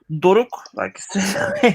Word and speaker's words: Doruk: And moving on to my good friend, Doric, which rhymes with Toric, which I realized is not actually a name. So now I have nothing for explaining how you say Doric. So, Doruk, so my name is Doruk.